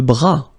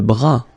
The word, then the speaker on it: bras: Le bras. Le bras. Same thing here. Final S not pronounced. Le bras.